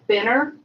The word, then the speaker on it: Fenrir: So this book is called Fenrir, and it's part of the Boardwalk Gods motorcycle group.